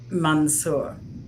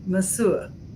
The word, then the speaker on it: monsieur: Although, I always had the worst time pronouncing uh, Mansour. Mansour. Monsieur.